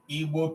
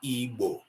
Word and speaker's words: Igbo: We are not Igbo, we are Igbo. That's who we are. The sound we is an Igbo sound.